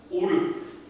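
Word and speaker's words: אור: 오르.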